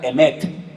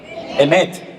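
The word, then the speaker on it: אמת: La palabra verdad, se la voy a enseñar para que aprendan a decirla en hebreo, se pronuncia emet. Dígalo conmigo, no tenga miedo. Emet, E-M-E-T, emet.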